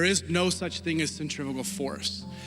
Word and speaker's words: centrifugal: There's this concept in physics that you and I have been mispronouncing since approximately 5th grade, and we call it centrifugal force. It's pronounced centrifugal force, but the schools have failed us, so here we are.